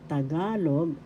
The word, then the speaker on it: Tagalog: First syllable ta, second syllable ga, third syllable log. Tagalog, ga in the second syllable is the accent.